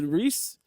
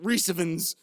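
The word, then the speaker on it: Rhys: know what he's doing are you sure you're pronouncing that correctly you sure his name is Reese hold on are you making yourself laugh I'm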